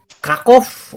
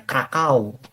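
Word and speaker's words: Kraków: mereka bacanya W aja krakov orang poandia menyebutnya krakau gitu ya krakau huruf w nah ini rajaadislaau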